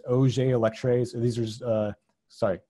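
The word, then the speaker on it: Auger: also have a J this is pronounced oj elect rays these are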